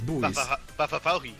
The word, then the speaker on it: buoys: ] you pronounce it buoys buoys right ba buoys it's booys all right fi all